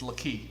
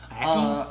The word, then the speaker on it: Lakey: I don't know how to pronounce your name, man, but according to me, it's Lakey now. Lackey? Nope, Lakey.